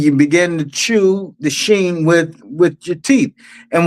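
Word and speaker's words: שׁ: and the 22nd letter because the sheen uh it has two different pronunciations. you have the sheen and you have the scene of of pronunciations.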